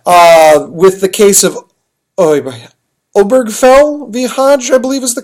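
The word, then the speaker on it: Obergefell: o b e r g f l l obergfell v hjj and HJ is spelled like you'd think Hodes any case OB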